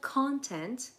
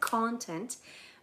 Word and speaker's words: content: به عنوان adjective تلفظش هم متفاوته با نونش. نونش میشه content. استرسش روی اوله content. ولی وقتی میخوای بگی یه نفر happy, satisfied یا راضی هست میگی content. تلفظش یعنی استرسش میره روی بخش دوم.